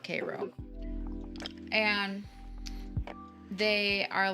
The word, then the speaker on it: Cairo: cairo georgia yeah um it's spelt like cairo but they call it k-ro and they are like